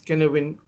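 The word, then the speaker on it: Cynefin: This is the Kenevin framework, pronounced as Kenevin framework, where you clearly see 4 domains, and in the center, disorder or complexity.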